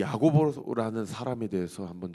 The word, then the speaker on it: 야고보: 근데 이제 신약 시대 때는 이 야곱이라는 이름이 야고보라는 이 헬라식 발음으로 이렇게 바꾸어지죠.